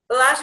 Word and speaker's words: Balazs: Yeah, you said it right. It's Balazs.